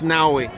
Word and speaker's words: Naui: You spelled his name wrong though. It's Naui, not with a V, but with a U.